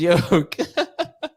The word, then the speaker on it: yolk: wrong oh wow yeah we are wrong it is yoke you're so yoke bro